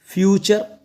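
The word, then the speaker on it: future: pattern ये है कि किसी भी वर्ड के लास्ट में टी यू आर ई एक साथ आए तो इसको पढ़ा जाएगा चर क्या पढ़ा जाएगा चर ये आपको चर का साउंड देगा टी यू आर ई एक साथ आएंगे वर्ड के लास्ट में तो इसको चर बोलना है आपको ठीक है चलो अब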